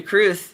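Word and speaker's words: crwth: I've tuned to Cru that is spelled C R WT H.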